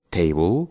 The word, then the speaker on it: table: El séptimo truco es que cuando tengamos una palabra que termina con una L y después tiene una E, solo vamos a pronunciar la L y no la E al final. Por ejemplo, table, que significa mesa, smile,